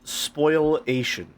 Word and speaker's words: spoliation: It's pronounced spoilation, but it's spelled spoliation.